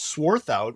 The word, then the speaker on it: Swarthout: It's sworth out, which is like it's German, so if you say it like you're angry, you know you said it right.